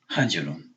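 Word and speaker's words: حجر: Hada hajrun. Right? Hada hajr. Hajr. Hajr. Hajrun only because of the tanween, right? But it's two syllables.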